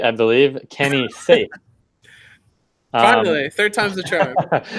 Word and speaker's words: Kenny Saief: And that is, now that we have the pronunciation right, I believe, Kenny Saief.